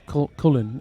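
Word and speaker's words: Köln: um uh this uh it's called uh cologne it's it's spelled cologne that's pretty good break there there's coolin uh right so he's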